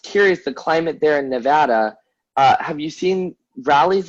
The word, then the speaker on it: Nevada: to the east coast everybody here i work with says nevada nevada nevada and i'm like what are you talking about it's freaking nevada so i always have